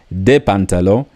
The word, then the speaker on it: des pantalons: That addition of S also applies here, but the S in pronunciation is very silent. So you'd still have des pantalons, the same way you said pantalon with un pantalon, des pantalons.